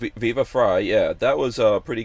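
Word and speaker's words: Viva Frei: viva fra fry yeah fry like french fry viva fry yeah that was a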